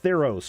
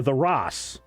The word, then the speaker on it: Theros: have mythic odysseys of theros or the ross depending on how you're going to pronounce it set in the magic